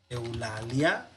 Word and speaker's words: Eulalia: Entonces no decimos, para separar sílabas, u, la, li, a. No, sino eu, la, lia.